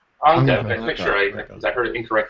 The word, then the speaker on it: Anca: How do you pronounce her name? Anca. Anca.